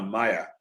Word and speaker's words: Mia: very smart woman and call her Maya some people pronounce her Mia but Mia Maya mle